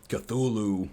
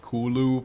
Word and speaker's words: Cthulhu: is the great sleeper cthulhu who actually i think it's pronounced kulu but uh i don't